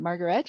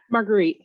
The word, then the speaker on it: Marguerite: Is it Margaret or Marguerite? Marguerite. Marguerite, yeah.